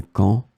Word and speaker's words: camp: In this lesson, we will see together two words that are written differently but pronounced the same way.